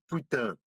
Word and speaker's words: putain: How long did you took to learn how to pronunciate Putan correctly? Putain.